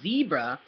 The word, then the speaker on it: Zebra: But the E as well is not pronounced E anymore, it's pronounced A.